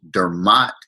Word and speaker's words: Dermot: got the story but all my life I've been called and I pronounce it Dermott now that I'm in